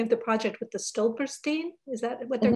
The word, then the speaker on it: Stolpersteine: And I'm going to mispronounce this, but I was thinking of the project with the Stolperstein. Is that what they're called? Yeah, Stolpersteine, yeah.